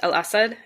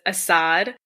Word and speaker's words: al-Assad: lot cooler yeah so bashar al-assad it is pronounced al-assad in arabic but like every western media person says assad and then i catch myself saying it and i'm like oh no that's wrong yeah i i do that